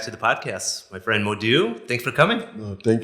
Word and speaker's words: Modou: So I take out the O when I was in the US because it was easier for the American people to say it, Modu.